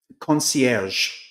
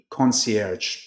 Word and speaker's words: concierge: one we have here concierge concierge pronounced pretty much like it is in French this is for us